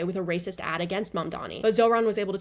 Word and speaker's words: Mamdani: And furthermore, the name is Mamdani.